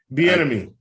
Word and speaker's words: Bieniemy: Benami or whatever. He interviewed, Chiefs offensive. Bieniemy.